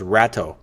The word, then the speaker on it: Rato: While Rato sounds better to me, like a rat jumping ship. We're going to pronounce that as Rato.